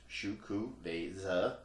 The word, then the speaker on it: Xocoveza: It is Xocoveza Mocha Stout, pronounced Xocoveza.